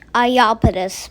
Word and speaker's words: Iapetus: sorry i know how it's pronounced now it's pronounced ayapetus please forgive me guys i'm telling you a new word i opposed saturn's moon iapetus it has like has a very mean radius